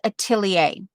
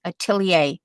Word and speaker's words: atelier: i see well it's i pronounced it atelier and that's how i learned it atelier and then you have to say it really fast atelier atelier that's how when you